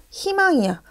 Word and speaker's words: 희망: 희망이야. 자, 희망에서 의가 들어가 있는 글자를 봤더니 역시 첫 소리에 자음이 왔어. 따라서 얘도 발음을 어떻게 하는 게 옳다? 희망 요렇게 발음하는 게 옳다. 됐죠?